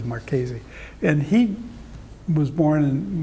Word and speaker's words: Marchese: of Sebastiano Marchese, and they pronounce it Marchese over here now, but his name is actually Marchese.